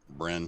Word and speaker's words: Bryn: And Brian? 14. Bryn. It was Bryn. Oh, Brian. I keep saying it wrong. Like an inn with a Bryn.